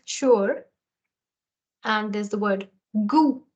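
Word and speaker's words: goût: and there's the word goo the t is silent here goo oh use the sound of O Okay so this means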